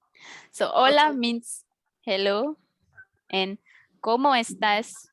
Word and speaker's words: hola: mention that in spanish in spanish language the h letter is silent so we do not pronounce the letter h for example number one